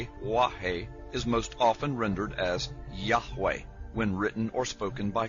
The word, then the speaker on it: Yahweh: The pronunciation Jehovah is an older, less accurate rendition of these letters. It originated with the early German translators of the Hebrew language and their sounds, thus the more Germanic sound of Jehovah.